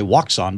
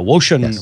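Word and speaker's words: Wouxun: I wanted to say Woxun, but you're right. They say the X in Chinese as an SH, a Woshin radio.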